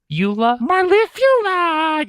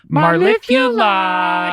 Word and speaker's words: Marula: My name is Marula. I'm sorry. Marula. Marula. You got to say it like that. Marley. Like you're singing Marula.